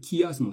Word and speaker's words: chiasme: construction qu'on appelle le chiasme. Ça s'écrit chiasme, ça se dit chiasme en fait.